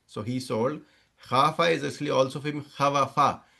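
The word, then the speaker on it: خاف: Khawafa, you can't say khawafa, you'll say khafa.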